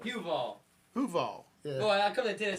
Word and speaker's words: Huval: That's Huval. Huval. Huval.